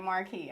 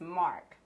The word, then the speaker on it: Marq: going to careless mark everybody be saying like marquee i guess because of the queue in it they want to pronounce the queue but it's mark for let's mark cool